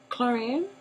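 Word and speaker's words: Klorane: And here I have for Chlorine, that's how you pronounce the brand, Chlorine.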